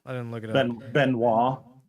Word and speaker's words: Benoist: didn't look at it benoit benoit i don't think so like chris yeah chris benoit uh i met disciples